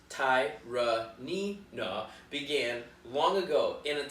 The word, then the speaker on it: Tyranena: website the legend of tyranny nough pronounced ty nee na began long ago in